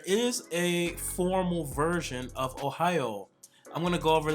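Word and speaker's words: おはよう: now with Ohio Ohio it is very important to extend the oil at the end of Ohio whenever you have a u right after the O like this at the end of the word especially in this case it's gonna elongate the old sound so Ohio you want to make sure you stretch that out and elongate it now there is a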